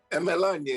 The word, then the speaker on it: Emerlonye: to talk to you my pleasure can you pronounce your last name for me is melanie you see melania is correct oh good i'm i'm just now